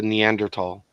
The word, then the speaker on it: Neanderthal: what it is well I think the th is pronounced like a t in German Mr sarkeesian that's the